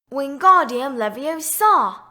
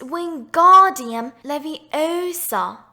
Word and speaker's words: Wingardium Leviosa: "Wingardium Leviosa!" he shouted, waving his long arms like a windmill. "You're saying it wrong," Harry heard Hermione snap. "It's Wingardium Leviosa. Make the ga nice and long."